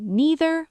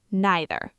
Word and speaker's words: neither: A quick pronunciation note, you can say neither or neither. Both are correct.